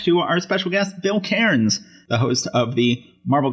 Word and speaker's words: Cairns: Cairns. Even though there's air literally in the word, it always is Cairns.